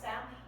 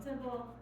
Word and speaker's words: simple: Technically it's pronounced samp, C-zone samp, which sounds funny, so I say English C-zone simple.